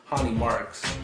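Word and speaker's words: Ronny Markes: Versus Hani Marks, even though it's pronounced, even though it looks Ronnie, it's Hani Marks, his Brazilian name.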